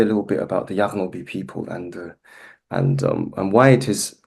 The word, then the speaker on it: Yaghnobi: How do you pronounce this? Yaghnobi.